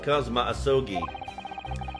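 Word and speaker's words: Kazuma Asogi: it's my best friend's name not mine he's pronounced kma asogi I actually believe this arm man that some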